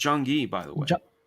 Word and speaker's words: Jung-gi: I can't pronounce the guy's name, but Jung-gi. Yes. Yes. His first name is Jung-gi, by the way. Jung-gi.